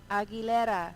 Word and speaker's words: Aguilera: When you say her name, you say Aguilera. What? Aguilera. The way you're supposed to say.